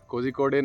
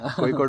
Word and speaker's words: Kozhikode: Kozhikode नहीं होता है, Kozhikode होता है.